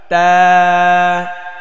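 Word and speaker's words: ت: ba, পরবর্তীতে যাচ্ছি আমরা তা, ta, তা, ta, তা। ta, এটা মাখরাজ হচ্ছে জিহ্বার আগা সামনের ওপরের দুই দাঁতের গোড়ায় লাগিয়ে, জিহ্বার আগা দাঁতের গোড়া, হ্যাঁ, তা।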